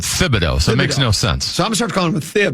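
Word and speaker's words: Thibodeau: Is it Thibido or Tibido? The nickname is Tibs, but you pronounce it Thibido.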